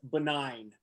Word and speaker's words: Benign: Well, now I want to know, going into 9, the title is Benign, which I know rhymes with 9, but it also kind